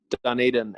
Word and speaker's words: Dunedin: I had to look up how to say it because I was gonna say Dunedin, and I'm Yeah, glad. no, it's Dunedin, and the city layout